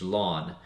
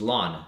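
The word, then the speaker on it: ln: so common you know we just simply use lawn okay pronounces just as lawn okay as the one you would have outside of your grass so those are really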